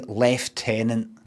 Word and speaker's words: lieutenant: love this game too you use the American pronunciation of lieutenant in the v thought like I don't say left tenant if that's what it is if that's what you mean left tenant oh I've